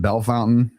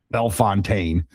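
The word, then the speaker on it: Bellefontaine: It's it it people are offended if you say Bel Fontaine. I said that's the way it's spelled.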